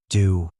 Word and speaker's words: Do: He was now do pronounced do like a note on the musical scale.